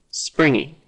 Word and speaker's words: springy: strong G sound willingness same thing with springy springy springy no G sound so let's check our